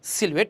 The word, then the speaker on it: silhouette: তাই এই যে কালো অবয়বটা, এটা ইংরেজিতে হচ্ছে সিলুয়েট, উচ্চারণটা হচ্ছে কি সিলুয়েট। মাঝখানের অনেক কিছু এখানে সাইলেন্ট আছে।